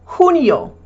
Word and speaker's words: junio: The J in Spanish is pronounced like an H. So, for June, junio.